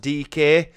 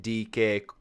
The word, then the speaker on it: Dike: from what i've told us when it is pronounced dk um i was gonna obviously if i had not been told that i would have said die because obviously that's how it spelled but i've